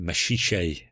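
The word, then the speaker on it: Maxixe: I mean, like talking about Mashish, which until this week I didn't know is how you pronounced it, is sort of a waste of time actually.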